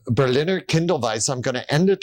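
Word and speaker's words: Berliner Kindl Weisse: herb it's so and how do you say this beer again we call this Berliner Kindle Vice Berliner Kindle Vice I'm going to end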